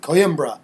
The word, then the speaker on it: Coimbra: and it's like Coimbra. So you Coimbra.